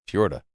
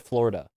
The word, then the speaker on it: Fiora: How would you pronounce that? Fiora. Yeah. Yeah. No, I used to get Florida.